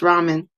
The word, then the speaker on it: ramen: but um oh okay so Victoria saying it's pronounced raw Ramen Ramen it's Ramen raymen Noles noodles no it's it's not Raymond it's it's Ramen okay but y'all do y'all drink soda or